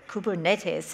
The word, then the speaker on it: Kubernetes: I've heard it pronounced, you know, on a recording properly, like Kubernetes, and it's from the Greek for helmsman, like one who steers, I'm told.